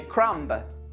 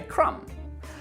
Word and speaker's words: crumb: So that's why we don't say crumb, we simply say crumb.